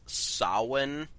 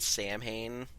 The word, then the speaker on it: Samhain: Also, because I feel like people will mention it's Samhain, not Samhain. Samhain, sorry, yeah. It's spelled Samhain, yeah.